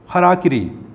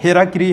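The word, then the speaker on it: hara-kiri: Who knows whether the tigers practised birth control और committed हराकिरी, ये हेराकिरी हाराकिरी है, शुद्ध उच्चारण होगा इसका हाराकिरी।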